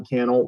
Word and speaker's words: Cannell: Now, if we are just meeting, my name is Sean Cannell, rhymes with YouTube channel, and I help people start and grow profitable YouTube channels.